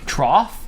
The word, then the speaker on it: trough: Trough? Rhymes with cough.